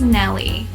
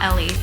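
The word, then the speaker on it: Nelly: I think it's Nellie with an N. Nellie, not Ellie.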